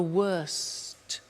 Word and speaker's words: worst: t bad worse the worst don't forget to pronounce the T and then far the